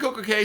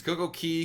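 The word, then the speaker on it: CocoCay: Both pronunciations, Coco Key, Coco Cay, they're both acceptable. There is no definitive answer as to which one is right or wrong. Locals will call it both, so you can call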